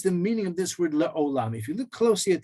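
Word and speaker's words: לעולם: We can just hint to the vav, so to speak, with the cholam, the dot on top. So we pronounce it la'olam, but it's spelled like alam, ayin, lamed mem.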